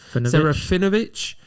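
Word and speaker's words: Serafinowicz: Saraphinovich.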